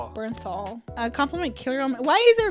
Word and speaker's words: Bernthal: Berthnal. That's the punisher. Bernthal. How do you say that? Berthal. Bernthal.